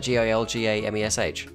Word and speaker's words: Gilgamesh: Wait, but, I how'd you mean, pronounce that? Gilgamesh?